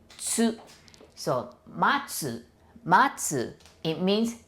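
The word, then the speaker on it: つ: I know it's a tu, but we pronounce it like tsu, tsu.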